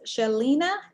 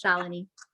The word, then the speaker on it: Shalini: Is this Shalina? Did I say it right, Shalina David? Yeah, it's close, but it's okay. It's a hard name. It's Shalini.